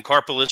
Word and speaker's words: Karpeles: Karpeles, carpal tunnel syndrome.